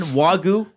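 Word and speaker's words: Wagyu: Dig into the Turkey Club sandwich or Alberta, how do I say it again? Wagu. I never say it properly. Wagu. Wagu. It's wagu. Wagu. Wag like wag a dog.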